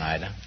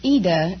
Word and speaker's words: Ida: Well, it's Ida in Italian, but... Oh, it's like Aida? Well, no, there is no A. It's just Ida. I-D-A. Oh. But the Americans pronounce it Ida.